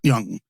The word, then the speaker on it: Jung: Is it Young or Jung or Young? Young, right?